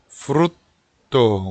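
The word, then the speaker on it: frutto: 여기 T가 두 개라 프루토 이래 버리면 안 되고 프루토, 우리식으로 얘기하면 프루에다가 시옷 발음을 집어넣어서, 받침을 집어넣어서 프루토 미다 이런 식으로 발음을 하시면 되겠고요.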